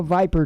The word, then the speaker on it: VIPR: viper what they call viper teams it's but it's spelled vipr viper teams well probably lockdown